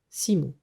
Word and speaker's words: Simon: qui n'est autre que son prénom Simon, prononcé à l'occitane Simon.